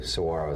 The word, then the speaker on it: Saguaro: Saguaro is how you say it.